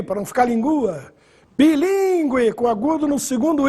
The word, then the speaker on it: bilíngue: Bilíngue, com agudo no segundo I. Repare que o trema sumiu e a pronúncia continua bilíngue. Consequência também perde o trema, mas não perde o acento.